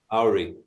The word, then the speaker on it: Auri: AI.